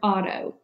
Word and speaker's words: auto: look at the word Auto it reads exactly like you would expect it to the AU says ah it's a diphthong and the teo is open ah toh it means self or